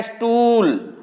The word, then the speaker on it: स्टूल: तो ये भी हो गया स्टूल। यहां भी ई की ध्वनि आ रही है।